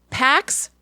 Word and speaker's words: Pax: names I checked later what paddocks well I said it wrong but it was pax Maddox Zahara Shiloh Vivien